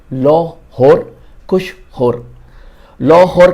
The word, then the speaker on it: लाहौर: पंजाबी में इसको लाहौर और कसूर ऐसे प्रोनाउंस किया जाता है।